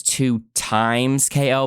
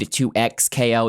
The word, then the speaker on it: 2XKO: here is 2x KO potentially it could be pronounced as 2 * KO but I saw this tweet saying that it's pronounced how it is spelled which makes me think it is indeed 2x KO even though I think two times KO sounds slightly better and if you guys